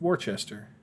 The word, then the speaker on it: Worcester: now try orchestra worcestershire horses of worchester it's worcester that word is worchester that came from ben